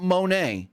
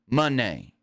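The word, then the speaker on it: Moné: the ring Mercedes Monee so it's not Monae even though it's spelled Monae it's Monee the O say like a u Mone but with that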